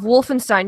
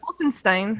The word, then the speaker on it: Wolfenstein: It's German. It's spelled the same way for Bernstein. Nobody says Bernstein. No, go to Germany and ask them. They'll look at you like you're an idiot.